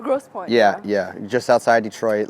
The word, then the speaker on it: Grosse Pointe: Grosse Pointe. Grosse Pointe.